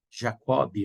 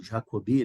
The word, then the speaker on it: Jacobi: Eu digo que eu fiz um sistema equivalente a esse, com o mesmo princípio do teorema de Jacobi, ou Jacobi, né? A pronúncia de alguns.